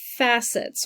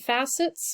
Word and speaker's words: facets: We have facets or facets. In undergrad, they pronounced it facets, which agrees with like the facets of a diamond or a jewel, has like a smooth, shiny surface. That's a facet.